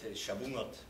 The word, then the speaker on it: Shavuot: It's like here we say the Ngayim, and so you say Shabuot. There was no way to say Shavuot or something like that.